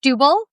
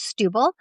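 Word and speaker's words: Setúbal: that as her number one town is it's pronounced Stubil but it's spelled Satubal but it's pronounced Stubil and that's my favorite town so far that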